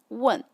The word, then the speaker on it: 问: If I'm using the fourth tone, it is 问. It means ask. 我可以问你吗 means may I ask you? But if I change the tone to the third, it becomes 吻.